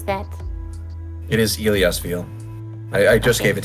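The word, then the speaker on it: Illyasviel: How do you pronounce that? It is Iliasville.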